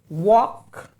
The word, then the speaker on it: walk: They pronounce it walk.